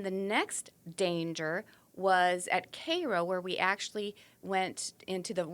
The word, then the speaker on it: Cairo: Cairo, and it's not pronounced Cairo. It's Cairo, Illinois.